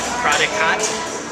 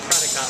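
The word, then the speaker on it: Prädikat: p r a d k a t maybe prodot p r a d y k a t prodot levels the entry level is called qba qba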